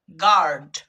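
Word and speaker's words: guard: কিন্তু এবার যদি বলি গার্ড, গার্ড, তো দেখো এখানেও আমরা ইউ এবং এ কে খুঁজে পাচ্ছি, কিন্তু এখানে ইউ এবং এ এর উচ্চারণ হয়ে যাচ্ছে আ।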